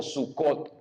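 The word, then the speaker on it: סוכות: le conoce como tabernáculos esto viene de un vocablo hebreo que se pronuncia suca en singular o sucot que es el plural es decir tiendas muchas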